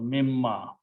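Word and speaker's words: مما: And you write down together, meme, this meme changes the sound of this noon, and so it becomes 2 memes actually. Noon totally goes away in this word. So mimma, but it is a combination of this.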